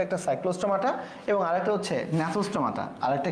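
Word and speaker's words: Gnathostomata: আর আমাদের যেটা নেতস্থমাতা ন্যাচোস্টোমাটা জি এর উচ্চারণ কিন্তু হবে না এখানে লেখা রয়েছে দেখো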